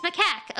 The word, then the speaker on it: macaque: It's macaque.